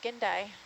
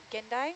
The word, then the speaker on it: gindai: Those are the gindai. Gindai. How do you say it? Gindai?